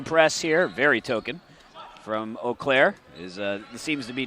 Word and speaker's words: Eau Claire: know how to pronounce oair you have not been paying attention to division three very much and you flunked French class there you go well